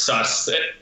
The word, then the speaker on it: Sass: What does Sass mean? Am I pronouncing that correctly? No, it's pronounced sus. Basically, my nickname in Estonian is sus.